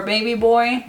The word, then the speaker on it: BB Boy: color called bb boy or baby boy um it's spelled bb boy so we're gonna go